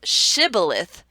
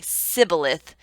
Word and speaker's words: shibboleth: and you notice that everyone who says shibboleth is kept alive, and those that say sibboleth are sent to death, why wouldn't you say shibboleth when you got up there?